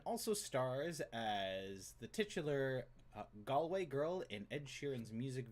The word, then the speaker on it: Galway: when i heard it but some people do pronounce it galway and i had never heard that until like last year but it from everything i've ever heard it's galway girl oh what looks like they can't answer